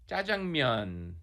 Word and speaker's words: 짜장면: All right, Nick, I'm going to ask you to help us all pronounce this dish correctly. Jjajangmyeon.